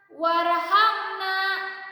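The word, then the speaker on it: وارحمنا: Di sini ada hamzah, tapi hamzahnya hamzah wasol. Tidak dibaca, langsung bacanya ke ro. Dan ro ini disebut ro tafkhim. Warhamna, dengan cara mengangkat lidah ya.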